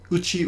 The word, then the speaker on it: 家: As a word that stands on its own as just one kanji, it can be pronounced uchi or ie. The difference is a little bit like home and house. Uchi is your home, and ie is a house.